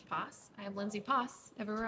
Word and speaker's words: Poss: To be fair, it rhymes with my last name, which is Poss.